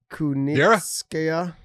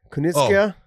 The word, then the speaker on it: Kunitskaya: Kunitskaya. Kunitskaya?